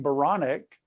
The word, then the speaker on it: Baronic: so i thought about my last name baronic rhymes with bionic so i said i